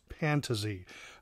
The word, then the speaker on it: Pantazi: everyone calls him nick pantazee but yes i checked with him his last name is pronounced pantazee uh so anyway he